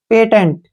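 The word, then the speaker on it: patent: पी ए का उच्चारण पे हो गया, टी का उच्चारण ट हो गया, ई से ए की मात्रा हो गया, एन से न, और टी से ट। पेटेंट, क्या पढ़ेंगे इसको?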